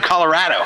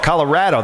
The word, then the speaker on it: Colorado: But You got to say it like they do, Colorado. Oh, Colorado.